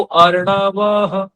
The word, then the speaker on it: अर्णवः: रात्रय जायत ततः समुद्रो अर्णवः, अर्णवः अर्णवः, ठीक है, वह नहीं बोलेंगे। अगर वह बोल दिया तो हा का पूरा उच्चारण हो गया, लेकिन ह आधी मात्रा के साथ बोला जाएगा, अर्णवः अर्णवः अर्णवः, ठीक है।